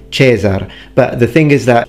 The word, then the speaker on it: Caesar: In ecclesiastical pronunciation, for example, you don't say Caesar, you say Caesar.